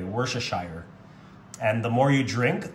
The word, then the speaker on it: Worcestershire: Some people pronounce it wrong. They say Worcestershire, but I pronounce it the correct way, Worcestershire.